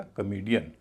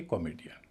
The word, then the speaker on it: comedian: तो इससे पहले जो ओ है वह हल्का हो जाएगा और उसका उच्चारण होगा अ। इसलिए पूरे शब्द को बोला जाएगा कॉमेडियन, न कि कॉमेडियन।